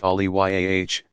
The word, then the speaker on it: Awliya: They are called friends of God, Awliya, pronounced Aliyah, singular Vali, and are generally analogous to what Christians and others mean when they refer to saints.